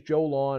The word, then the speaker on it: Jowlawn: Okay, and the company's Joe Lawn. It's spelled Jowlawn.